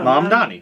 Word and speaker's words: Mamdani: Mamdani, yeah. Yeah, Mamdani.